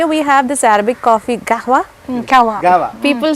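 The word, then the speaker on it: قهوة: People say gawa, it's kahwa. It's kahwa. Yeah, it's kahwa. ഇത് പറഞ്ഞപ്പോഴാ അറബി അവിടെ പിടിച്ചു ഞാൻ കേട്ടോ. ഈ നമ്മള് ഗാവാന്നും കാവാന്നും പറയും, പക്ഷെ how do you pronounce it? Kahwa. It's from the epiglottis.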